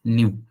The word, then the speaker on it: nu: new it is new it is pronounced as new okay and somewhere it